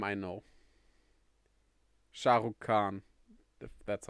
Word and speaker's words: Shah Rukh Khan: name that's basically the only name i know shah rukh khan that's how you pronounce it he watched it in america oh